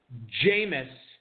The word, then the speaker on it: Jameis: Little bit of some volatility at quarterback here for Jared Smola as he goes with Jameis, as it is pronounced, Winston at the 12-12 tonight to back up Andrew Luck.